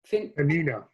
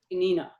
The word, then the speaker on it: Peninnah: She even remains patient and offers no ill will toward her tormentor, who is, how did you pronounce her name? Peninnah. Peninnah.